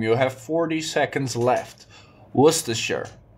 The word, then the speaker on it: Worcestershire: It's one of the most tricky English words to pronounce just because it has so many silent letters. Not just one silent letter, it has like 5 silent letters.